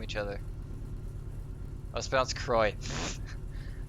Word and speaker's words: Croix: Croix except and literally like 15 miles apart from each other I was bounced Croix how do you get that from cro IX